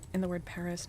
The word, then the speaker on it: Paris: I would pronounce it Perry, but if I'm speaking in English, I pronounce it Paris. So mostly because if you're speaking English and then you just say Perry, you sound super pretentious.